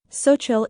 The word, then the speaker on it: Xochitl: Xochitl is a beautiful name of Nahuatl origin, which is spoken by the indigenous people of Mexico. It means flower. The X sound is pronounced like sh in English, making it a delightful